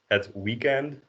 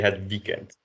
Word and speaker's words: het weekend: So, but you do pronounce weekend in a Dutch way, so you don't say het weekend, you say het weekend. Just try to be channel your inner Dutch. So hard W's and the T at the end.